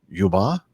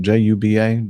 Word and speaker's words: Juba: Mogadishu and Somalia and Juba is the way you pronounce that Jub a Juba yep to say so okay